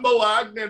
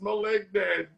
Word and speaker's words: Malignant: It's not Malignant, it's Malignant.